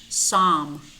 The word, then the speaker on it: psalm: Psalm, psalm. Here we don't pronounce the letter P nor the letter L. Psalm.